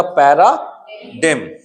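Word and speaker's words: paradigm: जैसे पता चला कि जी का जो साउंड है वो साइलेंट होता है इस एम से या एन से पहले जब जी लगता है, तो आप इसको आसानी से पढ़ सकते हो। तो इसका साउंड क्या हो गया, पैराडिम। इजी है या नहीं, बताओ आप।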